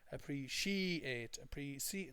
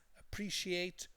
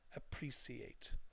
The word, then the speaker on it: appreciate: this is the stressed part and then they mispronounce it by saying appreciate. No, don't do that. It's appreciate or appreciate.